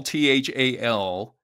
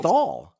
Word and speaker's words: Neanderthal: I don't know if that's what's, leading me to pronounce it, as Neanderthals. I'm saying Thal.